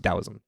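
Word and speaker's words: Taoism: dosm it's spelled with the T TSM it's pronounced dosm which has work recorded as early as around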